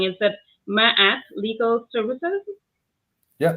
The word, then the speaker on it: Ma'at: So I might be pronouncing it wrong. Is it Ma'at Legal Services? Yeah, Ma'at's legal services.